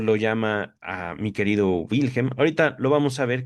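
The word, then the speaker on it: Wilhelm: Dice Freud, "Mi caro Wilhem o mi caro Wilhem. Yo preferiría pronunciar la W como V.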